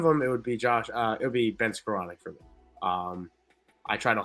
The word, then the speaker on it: Skowronek: It is Skowronek. He did say he doesn't know how to spell it.